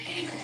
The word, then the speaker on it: Haman: Like, to pronounce it properly, assume that you were reading the word human as if you knew the laws of English and none of the rules as to what the correct pronunciation is. You would then read it as human. That's pretty close. Maybe that's why everyone calls it Haman.